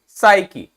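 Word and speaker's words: psyche: क्या पढ़ते हैं इसको साईकी क्या पढ़ते हैं साइक ठीक है ध्यान देना है स्पेलिंग जरूर ध्यान देना है क्योंकि जब बोल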